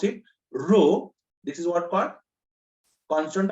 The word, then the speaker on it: rho: specific resistance resistivity so this is how to pronounce it rho this is what part constant of proportionality and